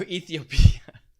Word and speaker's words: Ethiopia: No, you're just mispronouncing Ethiopia. It's Ethiopia. Oh, Ethiopia. I've always been saying it wrong.